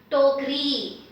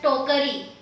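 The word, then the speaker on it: टोकरी: Now why am I not pronouncing it as tokari? I am saying tokri. So because I have the long e matra at the end, this becomes even slightly shorter and the stress is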